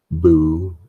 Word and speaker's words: Bullette: Bullette. It is pronounced boule. I don't give a damn what it should be if it were French.